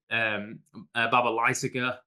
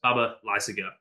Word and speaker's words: Baba Lysaga: And whenever I thought this time, I'm not going to stress any of the syllables. Baba Lysaga.